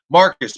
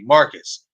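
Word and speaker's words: Marques: and easier to text marcus buddy marcus and it's spelled m-a-r-q-u-e-s it is pronounced m-a-r-c-u-s but it is spelled m-a-r-q-u-e yes it's different but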